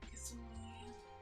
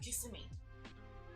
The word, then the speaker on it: Kissimmee: Kissimmee. What's it? Kissimmee. St. Kissimmee. Cloud. That basically taught most Americans how to pronounce that.